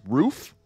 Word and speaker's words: Ruf: the fine folks at roof you guys may know of them as ruf it is pronounced roof okay and they tune